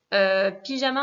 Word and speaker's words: pijama: Et surtout pas de son jeu à la prononciation, je vous rappelle, c'est una jota, le j se dit r, donc pyjama.